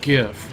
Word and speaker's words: GIF: never go wrong with jiff media files um you are aware it's pronounced gif right oh no silly this